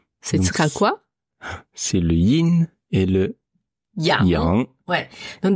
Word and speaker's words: Yin: prononcer in in in alors faites attention parce qu'en français on le voit souvent écrit avec un G à la fin dit le yin et le yang non attention Yin ne s'écrit pas avec un G c'est y N et donc Yin et vous entendrez la